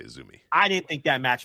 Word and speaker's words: AZM: Do you say Azumi? Yeah. Or I think you say Azumi. Yeah, you say Azumi.